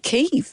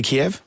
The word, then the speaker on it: Kyiv: No, Yeah, but good on Kyiv you, is Jeff. different. When newsreaders and journalists Sure. need to talk about it, they are giving it the correct pronunciation. Chicken Kiev can stay Kiev.